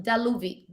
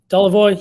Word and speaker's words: Daluvoy: So before we dive in, Daluvi, did I pronounce it correctly? Daluvoy? Daluvoy, you got it.